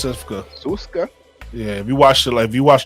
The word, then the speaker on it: Sivka: I know it's Sifka.